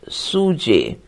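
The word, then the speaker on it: sjuzhet: and Suzette SJ u z h e t pronounced suj for plot though I don't myself see any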